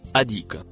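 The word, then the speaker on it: أهديك: Le mot en violet se prononce adik.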